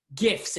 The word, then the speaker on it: GIF: Yeah, Katie mentioned GIFs. It's a hard G.